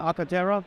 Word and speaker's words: Arcartera: When we talk about Arcartera, am I pronouncing that right? Absolutely, yeah. Arcartera.